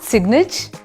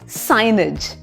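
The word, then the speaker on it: signage: को हम बोलते हैं साइन ज एस आई जी एन ए जी ई इज नॉट सिगनेज इट्स साइज साइज एक और वर्ड है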